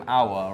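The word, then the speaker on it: Houssem Aouar: Husam Aouar, right? Yes, that's how you, because I'm not very good with that pronunciation.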